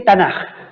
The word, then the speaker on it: Tanaj: Es una K que se pronuncia como una J en español porque va al final de la palabra.